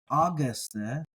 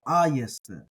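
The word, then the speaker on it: ἄγεσθε: Remember, in the environment of an epsilon following a gamma, the gamma becomes a Y sound. So this is not Auguste, but aye, aye, aye. So ayeste. It really sounds like the word yes there in the middle, not guess. So ayeste with the stress on the alpha.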